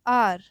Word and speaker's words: hour: How do we pronounce R? We pronounce R as R, isn't it? We are getting the vowel sound or not in this word? Yes, we got a vowel sound.